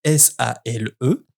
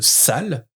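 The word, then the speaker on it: S.A.L.E.: Dans la boîte se trouvent justement des badges avec écrit S-A-L-E. Quand Harry demande pourquoi c'est écrit sale sur les badges, elle rétorque que non, ça se prononce S-A-L-E pour Société d'aide à la libération des elfes.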